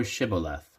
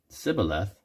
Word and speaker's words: Shibboleth: Then they said unto him, Say now Shibboleth. And he said, Sibboleth, for he could not frame to pronounce it right.